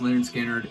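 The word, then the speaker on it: Lynyrd Skynyrd: adore two bits and pieces their debut album pronounced lard skinnard is one of my favorite albums of all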